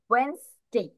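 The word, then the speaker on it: Wednesday: They pronounce like that, কোন একটা কারণে তাদের ডি এর প্রোনাউন্সিয়েশনটা বাদ দিয়ে দিয়েছে। তারপর ই প্রোনাউন্সিয়েশনটাও বাদ দিয়ে দিয়েছে, সরাসরি WENS এগুলো একসাথে প্রোনাউন্সিয়েশন করে ফেলছে, ওয়েন্সডে।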